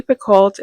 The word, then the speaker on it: Picoult: It's by Jodi Picoult and Jennifer Finney Boylan. I've never read a Jodi Picoult book before, or Jodi Pico, I think it's pronounced.